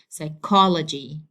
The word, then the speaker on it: psychology: So I have to say it like psychology, psychology.